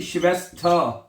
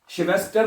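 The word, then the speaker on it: Schwester: अगला लफज़ है अगला लफज़ है जी शिवस्थ। शिवस्टर नहीं कहना। ठीक है? आर आखिर में आएगा तो उसको आपने प्रोनाउंस नहीं करना।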